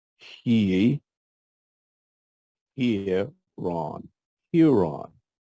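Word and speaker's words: ἱερόν: it's quite a few this is rough breathing marks so it's pronounced with an H sound EE ear Ron Huron Huron is the root word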